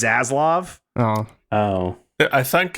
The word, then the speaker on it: Zaslav: ] what a dick I also like that we pronounce zaz laab like stats lab I think that's fun what is it supposed to be I just assumed it was zaslav Oh Oh I thought